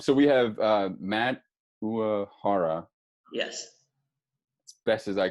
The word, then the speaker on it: Uohara: So the true Japanese way of saying it is Uohara, but a lot of people kind of blend it with an Irish pronunciation. Yeah. So it's like O'Hara, but any way that you want. Uohara seems to be the easiest.